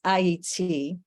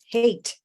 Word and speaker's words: Haiti: And may I emphasize that it's Haiti, but the Neanderthal, the vulture, the white supremacists, they pronounce it hate for a reason. So for those who would like to correctly not do the colonial narrative, it's Haiti.